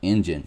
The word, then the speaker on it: Enjin: Notice how that's spelled, Enjin. Yeah, like the Enjin token.